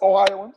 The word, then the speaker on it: Ohioans: one of the greatest ohioans is is that how you say it ohio wins ohioans that's correct ohio that is ever